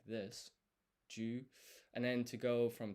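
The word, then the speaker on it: じゅ: And so this is not pronounced ji, yu, it's a blended syllable, ju.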